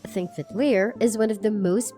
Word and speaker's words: Þingvellir: Þingvellir National Park A designated UNESCO world heritage site, Þingvellir, which is pronounced "Thingvellir" is one of the most beautiful and most